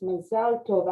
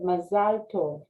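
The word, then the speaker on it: מזל טוב: um bo another we say mazel tov but it's mazel tov actually uh courtney you pronounced it correctly you said masalto and that's how we're supposed to say what does masalto mean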